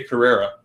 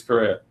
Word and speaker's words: Correa: I always say Carrera all the time, but it's Correa.